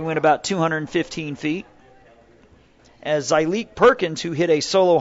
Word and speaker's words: Zyleek: So Zyleek, Z-Y''Lick, pronounced Zyleek.